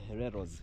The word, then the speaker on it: Hereros: double sure yes family they were called the hereros the first people to organize the Rebellion so